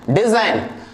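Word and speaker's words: design: आ रहा है, right, that's why it will silent, ji असाइन, साइन, रिजाइन, डिजाइन।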